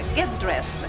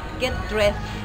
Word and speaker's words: get dressed: Get dressed. ¿Qué será get dressed? Es vestirse. Ojo con la pronunciación de este verbo. Get dressed. No es get dressed. Es get dressed. Como con una T.